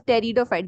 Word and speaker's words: pteridophyte: It is known as pteridophyte. The P is silent. Okay.